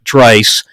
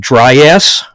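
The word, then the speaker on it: Draiss: a i s s it's pronounced with a long I like Trice I've been call I've been called dry ass dress and some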